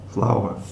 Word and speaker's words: flour: gluten gluten mix separate flour flour it's two syllables it's two syllables it's